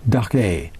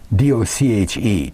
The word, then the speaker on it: doche: It's Dochar, Doche, D-O-C-H-E, Doche.